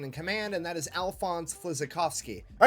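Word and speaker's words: Alfons Flisykowski: Alphonse Flizakovsky? Is this who he meant? Oh my god, he made it sound so bad. Let me give you the proper pronunciation. Alphonse Flizakovsky.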